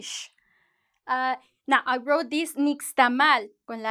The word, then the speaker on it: nixtamal: That's an indigenous word. That's a Nahuatl word. So it usually it's like nixtamal. But speaking of those indigenous words, there's something, some kind of tips to give you. When it's an indigenous word, a Mayan word, a Nahuatl word, you're going to say nixtamal.